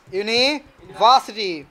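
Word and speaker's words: university: ইউনিভার্সিটি ওটা ইউনিভার্সিটি না ইউনিভার্সিটি ইউনিভার্সিটি কি হবে বলতো ইউনিভার্সিটি ইউনিভার্সিটি উপরের দাঁত নিচে ঠোঁট দিয়ে উচ্চারণ হবে ইউনিভার্সিটি ইউনিভার্সিটি ইউনিভার্সিটি আর ওয়ার্ড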